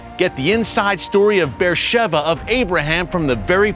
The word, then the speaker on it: Be'er Sheva: with you tell beersheva beersheba it reads uh on the page but it's pronounced beersheva here in israel a place of incredible